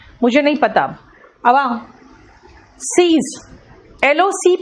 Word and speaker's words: seize: अगर मैं सीज का मीनिंग पूछूं तो कहोगे स्टॉप, इसलिए सीज का मीनिंग देखो लिखा स्टॉप, लेकिन सेम प्रोनाउंसिएशन है सीज। लेकिन SEIZE इसका मीनिंग है कन्फिस्केट, यानी कि जब्त करना, है ना।